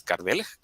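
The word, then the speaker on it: Kardelj: Creo que la pronunciación occidental es tal cual, Eduard Karel, su apellido es Kardel, en idioma croata, que es como que el ideólogo, ¿no?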